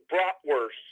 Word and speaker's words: bratwurst: I was going to let you know, Holly and Josh, it's actually pronounced bratwurst because it's got the little, when you bite into it, Yeah.